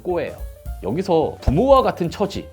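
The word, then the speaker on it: 子: 합니다 자녀 역할이라는 건데 이거 일본식 발음은 꼬예요 여기서 부모와 같은 처지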